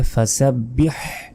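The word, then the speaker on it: فسبح: ফাসাব্বি এটাও ভুল কারণ এখানে ছোট হাত নাই এখানে আছে বড় হা বলতে হবে ফাসাব্বিহ বিহামদি এখানেও বড় হা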